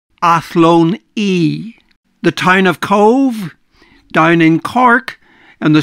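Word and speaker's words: Cobh: The town of Cove, down in Cork, on the south coast, is pronounced Cove, V-E, where the B-H is pronounced as V, not Cob.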